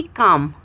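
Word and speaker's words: calm: नहीं करेंगे ठीक है जैसे कि काम सी ए एल एम काम होता है तो काम बाम पाम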